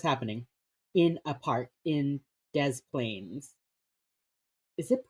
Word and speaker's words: Des Plaines: Oh my god, it's actually called Des Plaines.